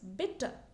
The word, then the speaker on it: bitte: So the word for please is bitte.